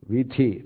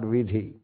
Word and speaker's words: वीथी: So here is the same meaning, vithi, not vidhi.